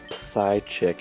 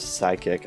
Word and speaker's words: psychic: I was really bad I would always call it side chick instead of psychic I was a really